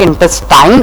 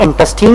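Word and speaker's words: intestine: इंटेस्टीन और large इंटेस्टीन, बच्चों इसकी 2 प्रोनाउंसिएशन है, sometimes it pronounce like इंटेस्टाइन और इंटेस्टीन। ये अमेरिकन और ब्रिटिश में इसको अलग अलग प्रोनाउंस किया जाता है, कोई इशू नहीं है कि आप इसको किसी भी प्रोनाउंसिएशन से प्रोनाउंस कर सकते हैं।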